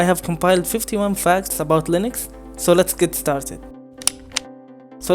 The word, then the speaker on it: Linux: linux was too egotistical linux is pronounced linux and not linux linus or linus what's exactly your preferred